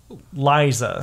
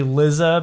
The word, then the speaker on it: Liza: it's dumb tatan lizza I called her Liza I thought yeah I thought it was Liza when I first met her but it's it's definitely lizza because the the pun is that they are they mean levitate that's why both of